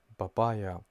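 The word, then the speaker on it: بابايا: it all together it's babaya why we are saying babe because the the sound p in Arabic doesn't exist so we have to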